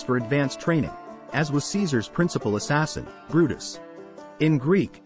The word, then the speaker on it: Caesar: its contemporary pronunciation thus his name is pronounced in a similar way to the pronunciation of the German Kaiser or Dutch Kaiser Caesar's